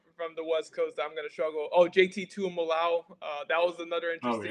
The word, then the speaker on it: Tuimoloau: And you know, I spent like 10 minutes trying to get that name pronunciation right because I was saying it the same way you did. I'm a Leva.